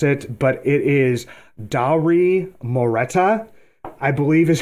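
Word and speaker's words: Dauri Moreta: it but it is Dowry moreta I believe is how you pronounce his name but he was uh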